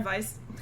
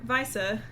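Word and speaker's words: Weisse: uh w's are v's if there's an e i it's pronounced i if it's i e it's pronounced e who knew you'd be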